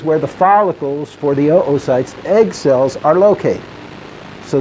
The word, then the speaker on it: oocyte: right here that's an oocyte and yes you pronounce both O's don't go around saying ooh site or people will think you're goofy or at least goofier this is a follicle